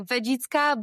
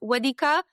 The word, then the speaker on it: Wędzicka: just removed the diacritics, because below the letter E, you have the tail. So it's L. It's really, really hard to pronounce for people outside Poland. So more like Wędzicka, but I know that